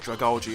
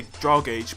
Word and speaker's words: Dragalge: I think that's how you say it, Dragalge. I'm not sure. I've heard people say Dragage, but I think it's Dragalge. You know, like algae, Dragalge. You know, algae, Dragalge.